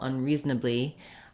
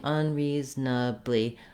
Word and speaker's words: unreasonably: So both words are stressed on the second syllable.